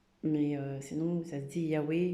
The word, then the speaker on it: Yahweh: donc on n'a pas le droit de le prononcer. Mais sinon, ça se dit Yahweh, Yahvé.